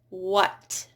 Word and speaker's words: what: So when the H is followed by a W, then usually it is not pronounced. So in words like what, when, where, why, you usually don't hear a what, when, where, why.